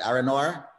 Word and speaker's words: Aronauer: It's Aronauer. I got the pronunciation right now, right? Aronauer? Yes, yes.